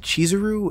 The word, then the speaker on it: Chizuru: Okay, first of all, it's pronounced Chizuru, and no, I'm talking about Beastars.